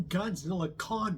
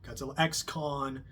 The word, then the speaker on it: Godzilla x Kong: So yeah, I don't think you're supposed to pronounce the X, I hear. No, it's just Godzilla Kong, not Godzilla X Kong. I don't know, I guess the X is silent.